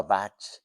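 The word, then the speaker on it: vāc: Entonces está dedicado a bat que es la palabra bat es palabra en sánscrito v a larga c má que la c se pronuncia cha vale B hay un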